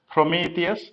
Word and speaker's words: Prometheus: most popular monitoring tool is prometheus for kubernetes prometheus that's how it's pronounced the r-o-m-e-t-h-e-u-s there is a movie on